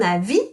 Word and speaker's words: avis: À mon avis, you don't pronounce the S.